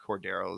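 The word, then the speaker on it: Cordarrelle: Cordo Patterson excuse me I think I think Cordo is the correct pronunciation but but you have arguably I would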